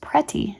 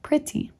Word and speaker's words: pretty: Here we have a very unusual substitution of for I in the word pretty, which is frequently mispronounced pretty in place of pretty.